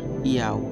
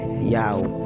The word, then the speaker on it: Yahweh: Então esse é o nome do Criador, Yahweh, e até hoje esse nome é pronunciado assim lá na terra de Israel. Yahweh, que é o nome verdadeiro do Criador, que